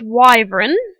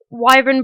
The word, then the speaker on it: wyvern: mob that's added so I'm not entirely sure how to pronounce this but I'm pretty sure it's pronounced wyvern at least that's what I've heard other people pronounce it as so it's basically a